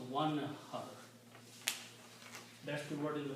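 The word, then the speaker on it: وانحر: When you put a waw in the beginning, then you do not pronounce the alif, you pronounce one har. That's the word in the Quran, one har.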